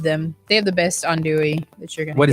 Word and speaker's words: andouille: Andouille. I was like andel or something like No, that. and I was saying andouille and got corrected by a Cajun.